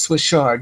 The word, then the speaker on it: chard: or mustard greens or is it chard or shard? I wrote it the other day. Swiss chard? Yes, Swiss chard, yes. Mm-hmm. So it's CH, but it's spelled C-H-A-R-D, no, Swiss chard.